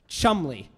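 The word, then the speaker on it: Cholmondeley: that word down there that very long word is pronounced Chumlee that's it for no particular reason but Chumlee castle is in Cheshire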